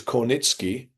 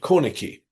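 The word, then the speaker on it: Kornicki: his tells me, uh, it was Cornitki, uh, which of course is closer to the Polish original, um, uh, because it's a Polish name originally. Um, and uh yet uh if an American uh without Polish background were to look at that name, uh I'm sure they would would read corn read it corny.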